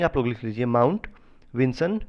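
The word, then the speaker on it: Vinson: गया है mount विजन है ठीक है इसका स्पेलिंग आप लोग लिख लीजिए mount विंसन वी आई एन एस ओ एन मासिफ एम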